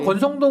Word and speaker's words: 권성동: 그래서 권성동 의원이 이름이 뭐 스펠링은 다르지만 이름이 성동이에요. 선동을 한 거죠. 권한 거죠. 성동을 권한 거죠. 선동을. 선동을 권해서 그래서 권성동이야. 이름 발음 잘못하면 그냥 권선동처럼 들려요. 권선동. 이름은 성동이지.